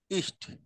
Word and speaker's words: ist: এখানে মূর্ধন্য স উচ্চারণ না করে চেষ্টা করবেন ইস্ট সেভাবে বলার, দ্বন্দ্ব স দিয়ে হচ্ছে ইস্ট চেষ্টা করবেন আর কি।